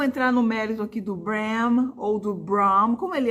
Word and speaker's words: Bram: m ou n né também em inglês o m Ele é bem articulado então é brahm E aí a minha